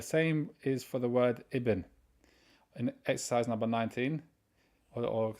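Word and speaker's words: ابن: right son of the this alif you don't pronounce it if there's a word comes before you only pronounce it at the beginning of a sentence that's exercise number four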